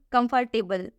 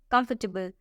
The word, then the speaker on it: comfortable: Second one, comfortable, table, which is wrong, and the correct pronunciation is comfortable.